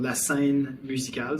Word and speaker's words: La Scène Musicale: And then the other building that I would say is a crazy reference is called, I'll pronounce it in French, it's called La Scène Musicale.